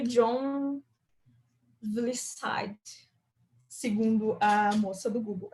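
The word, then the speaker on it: Vlissides: Que aí foi com o Eric Gama, Richard Helm, o Ralph Johnson e o John Vlisside, segundo a moça do Google, é assim que pronuncia, que é o nosso Gang of Four,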